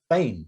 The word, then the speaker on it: Biehn: Bain. Is it Bain? Michael Bain, yeah. It's spelled like Biehn.